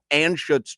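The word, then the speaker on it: Anschutz: The uh Philip Anutz trophy. Am I saying it correctly? Yeah. Philip Anuts.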